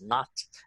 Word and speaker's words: naught: so a zero here um pronounced as not x naught and then final position